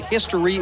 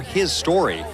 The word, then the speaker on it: HIStory: Whether you pronounce it History or His Story, this collection of 15 previous hits and 15 new songs is among the most hyped, most anticipated albums in memory.